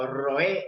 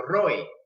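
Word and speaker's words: רועה: hebreo pastor se pronuncia nosotros lo entendemos y lo pronunciamos como roe o como roe literalmente es un verbo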